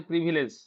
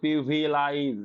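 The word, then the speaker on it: privilege: ই জি ই, হুম, অনেকে উচ্চারণ করে প্রিভিলাইজ, ওই তখনই ভুলে যায়, এখানে আই দিলেই ভুলে যায়।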